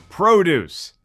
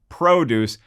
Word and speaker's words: produce: on the Tomatometer, and thus I said produce, when in fact I actually should have pronounced it produce, as in the films that either Guillermo Del Toro or Sam Raimi have been producers on.